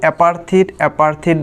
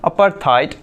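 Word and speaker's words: apartheid: वो बोलेंगे अपार्थाइड, आपको समझ में नहीं आएगा क्योंकि आपने इसको सेव करके रखा है अपार्थिड बोल के।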